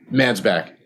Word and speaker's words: Mansbach: we have Adam mansbach am I pronouncing that right mansbach man's back man's back okay Adam man's back Adam